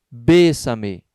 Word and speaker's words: bésame: Bésame, a terceira sílaba tônica, também é esdrúxula, né?